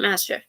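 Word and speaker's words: Maschiff: pronouncing this Pokemon's name you can't really tell from the actual spelling of the name but we'll call it master um and it is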